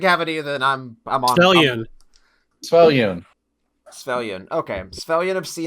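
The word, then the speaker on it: Svyelun: Svellion.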